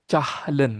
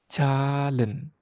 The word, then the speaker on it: Zahlen: Jadi kalau ada huruf H setelah huruf vokal dalam sebuah kata, huruf H-nya itu tidak dibaca. kita tidak baca cahlen gitu atau zahlen kalau versi eh pelafalan dalam bahasa Indonesia ya. Tapi kita bacanya huruf vokal sebelum huruf H-nya kita baca lebih panjang dari biasanya. Calen. Calen. Dan huruf Z dalam bahasa Jerman itu dibaca seperti huruf C.